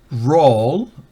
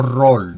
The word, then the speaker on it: roll: Roll, recuerde, la R en inglés es esa no roll, no rock, no rub, no. Es una R bien, ¿cómo se dice? Bien, es una R bien gutural, roll. Esa es la forma, es un fonema gutural.